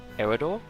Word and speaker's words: Eador: some quick things uh idol is pronounced idol in the opening cinematic so i'm assuming that's right um personally i would have i would have pronounced it eredore but whatever i'll just